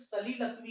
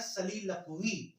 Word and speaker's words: soliloquy: देखो इसकी स्पेलिंग होती है SOLILOQUY और प्रोनाउंसिएशन होता है सलीलकवी। कई लोग इसको सोलिलोकी बोलते हैं, तो ध्यान रखना आपको सोलिलोकी नहीं बोलना है, इसका प्रोनाउंसिएशन है सलीलकवी।